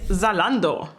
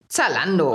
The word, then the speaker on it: Zalando: Third one actually is Zalando, or pronounced in German. Zalando. Oh, it's not Zalando.